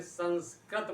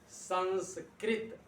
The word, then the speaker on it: संस्कृत: देखिए, बहुत सारे विद्यार्थी पढ़ने में गलत करते हैं, संस्कृत बोलते हैं, जबकि सही उच्चारण है इसका संस्कृत।